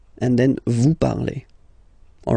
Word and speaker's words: parlez: Let's see now for vous, vous parlez, okay? Remember, z, when you combine them together, you get the sound e.